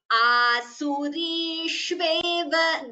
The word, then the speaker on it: आसुरीष्वेव: Please note, all of you, the pronunciation of sa and sha, it should not be interchanged. So this is sa, here also sa, samsareshu. Whereas this here, this is sha, here also asurishveva yonishu. So there are, and here it is sha, shubhan. So there is a difference in the pronunciation.